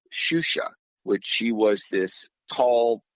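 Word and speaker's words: Xuxa: do the set XU XA is pronounced shusha in Brazil and while it's easy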